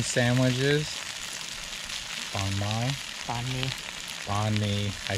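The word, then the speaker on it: bánh mì: Banh mi sandwiches. Banh mi.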